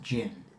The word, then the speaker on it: djinn: okay but wouldn't it be pronounced it's still pronounced gin with that with the B yes it's because